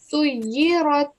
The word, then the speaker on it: سُيِّرَتْ: But try not to give a jerking sound at the end. Just try saying سُيِّرَتْ.